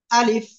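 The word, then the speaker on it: ألف: আমরা সবাই বুঝলাম যে আলিফ অক্ষরটা কোন জায়গা থেকে উচ্চারণ হবে মুখের খালি জায়গা থেকে এবং শেষে এসে নিচের ঠোঁট উপরে দুই দাঁতের আগার সঙ্গে লাগিয়ে একটু কি করতে হবে বাতাস বের করতে হবে আলিফ আলিফ সবাই একসাথে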